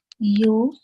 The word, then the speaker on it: अच्छेद्यो: Acchedyo. Say ach, and then say Ach. ched. Yeah, say Ched. ched. Yeah, ach, Ach. ched. Ched. Acchedyo yam adāhyo yam akledyo śoṣya eva cha nityaḥ Ni.